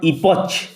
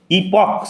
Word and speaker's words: epoch: Yet saw human history as a series of epochs, উচ্চারণ লক্ষ্য করো, নট ইপচ, ইপক CH ক উচ্চারণ হবে।